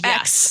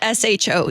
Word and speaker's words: choux: intensive deep dive into choux pate, which is What's your the favorite thing? dough that you use to make the cream puff. Oh, like that's what it's called. CHOUX, Yes. not SHOE.